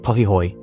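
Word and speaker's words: pahoehoe: Pi ho pronounced pihoy is the smooth ropey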